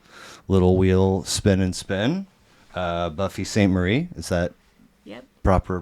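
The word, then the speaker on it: Buffy Sainte-Marie: Buffy St. Marie. Is that Yep. proper pronunciation?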